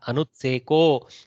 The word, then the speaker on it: अनुत्सेको: the answer अनुत्सेको लक्ष्यां I may have pronounced it as Anutsako or something like that when I was teaching earlier. Anutsekaha, Anutseko Lakshmyam.